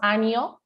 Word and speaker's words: año: say correctly sinuses yes a lot of people mispronounce anio right which means year they say with an n don't do that don't mean something else